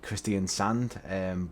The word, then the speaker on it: Kristiansand: pronouncing that name wrong in english we would just purely say christian sand and but i believe it's pronounced christian sonde um again if i've